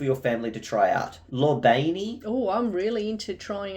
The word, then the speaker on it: lobiani: recommend foods for your family to try out Lani oh I'm really into try out different foods stuff Lani let's get that up and today we're going to be making a lobiani recipe Lani oh lobiani well at least we know how to say